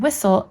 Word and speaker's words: whistle: Here we have the unusual occurrence of two silent letters in one syllable, making whistle a little difficult to spell.